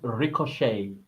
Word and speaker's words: ricochet: bullet hits something it ricocheted the t is silent you do not pronounce the T it's not Ricochet it's